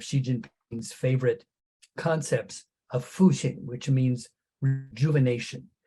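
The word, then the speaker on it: 复兴: So the Fu, this is pronounced Fuxing.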